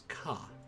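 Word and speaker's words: か: You pronounce this as Ka.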